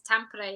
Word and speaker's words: Tampere: Did I pronounce that right, or have I butchered that? Yeah, it's Tampere, yeah. Tampere, right.